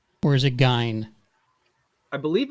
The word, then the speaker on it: Gein: I'm talking about Ed Gein.